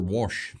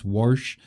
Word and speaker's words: Warsh: Wash. Wash. He's going to wash our interest rates lower. We had a doozy talking about how to pronounce it exactly, but yes, Warsh is the new Fed chair president.